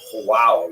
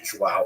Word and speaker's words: João: I used to think it was wow, like when the baby was born, the mother would say, wow, it's a boy, but it's actually João.